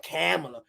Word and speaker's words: Kamala: I have a, I noticed that, like, because even Kamala, that's how I say her name, Kamala.